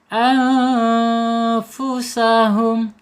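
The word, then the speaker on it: أَنفُسَهُمْ: Anfusahum. Di sini ada nun sukun menghadapi huruf fa ya. Bacanya ikhfa hakiki ya. Harus dibaca assamar dan ditahan dua harakat. Anfusahum.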